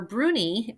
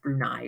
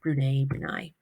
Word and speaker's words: Brunei: For Bruni, I always pronounce it Bruni, but I know that's not correct. But the reason why is because I think of teeny tiny Bruni, even though it's actually pronounced Brunei or whatever.